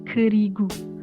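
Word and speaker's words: 그리고: Jadi yang pertama di sini ada kerigu, kerigo. Tapi orang Korea tuh biasanya bacanya kerigu. Karena nggak tahu biar gemes aja, tapi tuh kayak slangnya gitu, tapi kedengerannya jadi kayak gemes kita.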